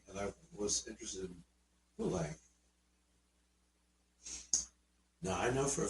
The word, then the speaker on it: Poulenc: First thing she did was, it's pronounced Poulenc. His name was Francis Poulenc.